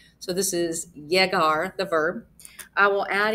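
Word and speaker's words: llegar: lot in Spanish and when you have those two L's together they're pronounced like a y so this is jegar the verb I will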